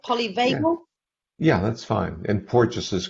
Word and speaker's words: Porges: Am I pronouncing that right? Polyvagal? yeah, that's fine. And Porges is correct as well.